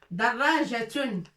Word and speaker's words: دراجة: دراجة. دراجة. Avec point en bas et fatha.